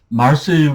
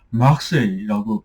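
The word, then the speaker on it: Marseille: 그러니까 말세유 같은 것도 마르세유로 발음하는게 아니라 막세이라고 발음을 하거든요.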